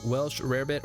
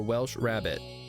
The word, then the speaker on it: Welsh rarebit: It's Welsh rarebit or Welsh rabbit.